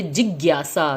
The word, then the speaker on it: जिज्ञासा: जिज्ञासा में अध ग का प्रयोग करके जिज्ञासा, ग और य को ज्ञ, जिज्ञा इकट्ठे बोला जाता है और यह बोला जाता है जिज्ञासा।